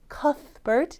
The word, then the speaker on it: Cuthbert: Cuthbert, TH 발음 여러분 잘 기억나시죠?